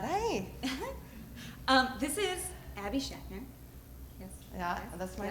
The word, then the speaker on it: Schachner: oh my God hey um this is Abby Shatner yes yeah that's my name I'm so glad you could pronounce it I I okay um you've done